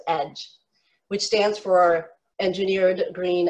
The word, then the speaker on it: EGE: it to your device e g e this is what some people call us but it's actually pronounced edge which stands for engineered